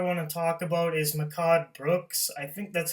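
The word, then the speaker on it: Mehcad Brooks: second actor I want to talk about is Mikado Brooks I think that's how you pronounce his name he was playing Jimmy Olsen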